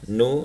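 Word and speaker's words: ν: Kecepatan cahaya itu adalah atau speed of light ini ya, disimbolkan dengan C ya, sama dengan nu ya, nu ini V tapi sebenarnya membacanya nu ya, kali lambda ya.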